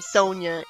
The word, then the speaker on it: Sonia: a hedgehog and wow Sonja shows up right afterwards there are people in real life with the name Sonia and it's pronounced like that by the way she